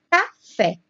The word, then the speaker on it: café: Próxima palavra é café. Em café, a sílaba tônica é fé, que está lá na última sílaba.